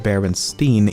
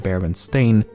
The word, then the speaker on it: Berenstain: First of all, I actually had to re-record this segment multiple times as I found myself pronouncing it Berenstein even when I should be saying Berenstain, and I've never even heard of the franchise before making this video.